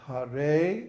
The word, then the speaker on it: Hare: So Hare Krishna. The Hare is long, and then Krishna is both short.